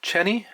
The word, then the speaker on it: Cheney: goop on the head I think it's pronounced chenny c h NE y a favorite fly from